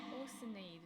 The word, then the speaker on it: Oceanid: Oceanade. That's how it's pronounced in English.